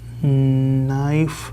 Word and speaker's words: knife: Rosa watches the lightning movements, tries to make her That K is silent. knife Yes.